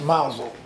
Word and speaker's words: Mousehole: Spelled mousehole, but it's pronounced Mousel over there.